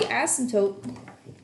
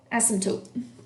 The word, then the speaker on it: asymptote: felt rummy CAS Yop silent P asymptotes it's almost like a bad word he asked some dope oh my gosh alright